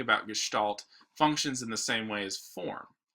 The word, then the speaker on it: Gestalt: It's called Gestalt. That's how you pronounce it. It's a fun little German word.